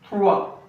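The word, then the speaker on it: trois: We use in tha. T r o i s. S is silent.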